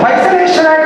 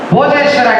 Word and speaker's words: Hoysaleshwara: Now, this is the Hoysaleshwara temple found in Kannanur near Tiruchirappalli, which is now mispronounced as Bhojeshwara temple.